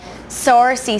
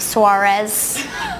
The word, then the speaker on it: Saoirse: What is the most common mispronunciation of your name? Saoirse seems to be a popular one. Saoirse, Suarez. That's creative.